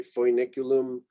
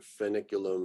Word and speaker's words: Foeniculum: Here I'm kind of swallowing the sounds that make that up. So you could go maybe a little more exotic and say Foeniculum, but I think it's usually just sort of a kind of becomes